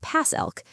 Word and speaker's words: PACELC: This is where PAC ELK comes in, pronounced pass elk.